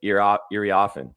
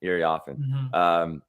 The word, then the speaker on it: Iriafen: Yeah, it's the IA. It's the IA in the middle. Iriafen.